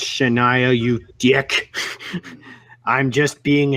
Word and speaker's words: Shania: I know it's pronounced Shania, you dick.